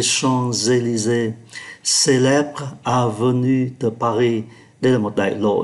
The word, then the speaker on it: Champs-Élysées: Chúng ta để ý ký tự M khi đứng trước P thì đọc là N. Les Champs-Élysées và đọc nối Les Champs-Élysées.